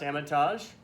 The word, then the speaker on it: Hermitage: This is a Cruz Hermitage. It's actually pronounced Hermitage.